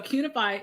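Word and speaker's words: Qunify: Cunify is spelled like unify with a Q in front of it.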